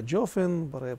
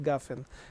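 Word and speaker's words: גפן: Еще кое-что, например, буква гимель, а йеменские евреи произносят как джимель, как джи. Баре прия джофен, именно джофен, потому что они не джафен, они не говорят гафен.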